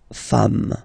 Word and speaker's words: femmes: S at the end, and as we said, you don't pronounce it, so you get des femmes, okay, des femmes.